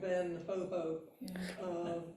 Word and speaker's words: Van Gogh: Vincent Van Gogh, which I've learned and now forgotten how to say his name correctly, but it's something like Van Ho.